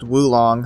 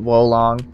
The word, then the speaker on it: Wulong: I guess it's pronounced Wulong, huh? I always pronounced it Wolong.